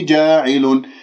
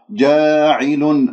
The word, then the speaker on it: جاعل: جاعل ليس جاعل، لا تمل الألف، خلي الفم بالوضع الطبيعي واللسان مرتاح، ما في داعي أنه تبتسم بالشفاه تقول جا، أو أنه تسحب اللسان إلى الخلف وتجعل اللسان منبسط.